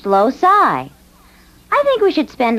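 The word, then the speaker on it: loci: no not locuses more than one Locus is pronounced loai I think we should spend a little time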